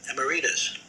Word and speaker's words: emeritus: and i said no it should be uh emeritus emeritus he had said emeritus um and sydney said no that's another that's an alternate pronunciation i said no it's not that's the real pronunciation i had a dictionary